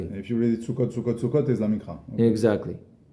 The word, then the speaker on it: Sukkot: Do you read it Sukkot or Sukkat? Yeah, in my head, you read it the way it's written. So you read it, you pronounce it Sukkot.